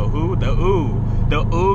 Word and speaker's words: Wu: Instead of, I used to say Wu, but it's Ooh. I'm like, oh, so no longer Wu Kingdom, it's Ooh. But I understand because, you